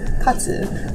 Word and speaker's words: katsu: it's in Japanese but it's the first two syllables it's katsu which we learned today till today yeah I